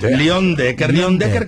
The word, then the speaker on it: Leyendecker: O sea, se escribe Leyendecker, pero mejor lo vamos a pronunciar como lo aprendí en fonéticamente. Muy bien. Leon Decker, que fue el de los tractores.